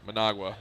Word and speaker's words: Managua: Managua.